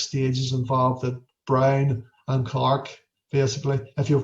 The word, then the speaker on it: Braun: 6 stages involved that Brown and Clark. Basically, if you've watched the lecture's up there of Brown and Clark as well. It's not Braun and Clark, it's Brown and Clark.